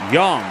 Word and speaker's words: Yang: Oh, is it Yong Yang Yang Yang? Like a Yong Yang like that, right? Is that better? 1540 as the backand goes in the volley. Yic. Yovic in the net. Back on serve. 2-1. Yong. Is that right? Yes. Okay, good.